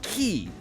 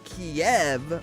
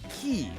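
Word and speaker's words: Kyiv: of us heard it kiev for the longest time that's the russian pronunciation that's not the ukrainian pronunciation in ukraine the word the that word would be pronounced key that's why everybody is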